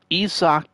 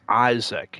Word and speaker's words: Isaac: Now we have 92 Isak Paredes. I think for some reason it is pronounced Isak, but I leave it as Isaac, Isaac Paredes.